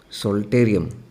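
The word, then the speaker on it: psalterium: so human reticulum omason the other name for this is saltarium p is silent and as the food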